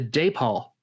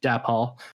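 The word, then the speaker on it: Dapol: figures i actually got the depaul figures or dab hall depending on how you'd like to pronounce it but my first doctor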